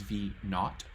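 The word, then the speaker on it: v₀: the initial height so that's v0 which we pronounce as V not kind of like how um some British people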